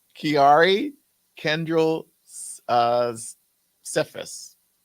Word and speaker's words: Kiari: you even pronounce that Kari kiari like Ferrari but with a K yep well that's how